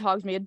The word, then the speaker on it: Hogsmeade: Is that how you pronounce Yeah, it? it's Hogsmeade.